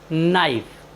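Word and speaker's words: knife: उच्चारण का नियम है यदि किसी वर्ड के शुरू में के और एन एक साथ आए तो हम के का उच्चारण नहीं करते हैं जैसे के एन आई एफ ई नाइफ नाइफ मीस होता है चाकू साथियों यहां पर के और एन वर्ड के शुरू में आया इसलिए हमने एन का उच्चारण नहीं किया है हमारा नेक्स्ट वर्ड है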